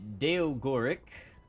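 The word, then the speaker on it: Daogoric: little name is grace job that would be deo gorik he's a draft centaur uh that's spelled d-a-o-g-o-r-i-c and he is veil auxiliary veil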